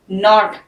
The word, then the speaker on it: knot: KNOT, नॉट, when you have to नॉट something, किसी चीज में गिरा लगानी है तो उसको कहते हैं नॉट।